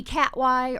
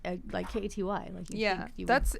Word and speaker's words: Katy: to wear a name tag, spelling my name Katy, just like Katy Perry. But I'm older than her, so then my name was there first. They called me Cat Y or Kathy or whatever, and I was just like, you know what?